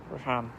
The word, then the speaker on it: Rehan: Well, I'm losing some followers for this, and H is silent. Like a jock would pronounce lock. Rickhan.